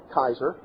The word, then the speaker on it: Caesar: Actually, the Latin pronunciation of Caesar was more like Kaiser.